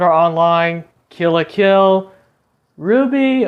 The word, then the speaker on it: RWBY: Online, Kill la Kill, Ruby, or as it is spelled, RWBY, I believe, Yuki Yuna is a